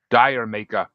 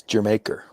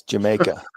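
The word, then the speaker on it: D'yer Mak'er: It's pronounced like the country. It's Jamaica. I don't speak I don't speak hillbilly. It's Jamaica because it's regular.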